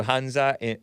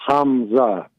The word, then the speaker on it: Hamza: let me get to hanza from Utica am I pronouncing that correctly hanza am I pronouncing your first name correctly no no Hamza oh with an m yeah Hamza and is